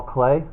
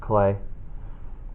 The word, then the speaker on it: Klee: about the artist Paul clay it looks like CLE but it's pronounced clay uh Paul Clay is